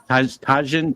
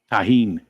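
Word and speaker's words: Tajín: T Tajin T Tajin that's not how you pronounce it how do you pronounce that no idea no I've seen it t t Jesus can I pet that dog he can't hear us I wondered if it was he can't tahen that's it that's it thank you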